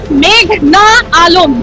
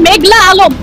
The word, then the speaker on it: মেঘনা আলম: আমার নাম মেঘনা আলম। আদালতে এসে শুনি বলছেন মেঘলা আলম এই নামটা তারা উচ্চারণ করতে পারছে না লিখতে পারছে না এত